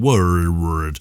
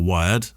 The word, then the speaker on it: Wyrd: I wanted to reach out because recently I've been building something called Word. How would you pronounce WYRD, Kev? Is that word or wired? Wired? Weird.